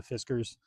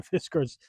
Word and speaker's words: Fiskars: This is a Fiskars, I believe is how you pronounce it.